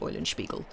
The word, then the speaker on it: Eulenspiegel: i've always had i've always heard it pronounced oil and spiegel i don't know if it's oil and should be called eulenspiegel i would i don't